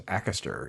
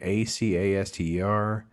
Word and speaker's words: Acaster: James Acaster is how you say his name. Acaster.